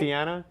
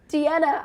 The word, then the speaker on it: Deanna: Deanna. Deanna.